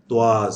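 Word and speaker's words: trois: त्वाज, त्वाज, इले त्वाज अक एदमी। याद रख लीजिए, मैंने प्रोनाउंसिएशन नहीं लिखा, त्वाज है।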